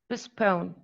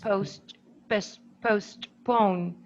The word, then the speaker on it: postpone: plosive were dropped yeah so we pronounce handsome handsome and postpone postpone we don't say post postpone we say postpone response it's even hard